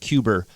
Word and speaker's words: Cuba: We should be at least pronouncing it Cuber once out of every 5 times. Cuber. That's a New York thing. Well, that's how Kennedy pronounced it.